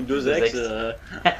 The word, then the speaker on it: Deus Ex: La liaison avec ex, du coup deux ex.